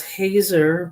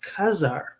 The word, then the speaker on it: Hazar: Kazakhstan was they had a city called Hazar, but it's pronounced Khazar.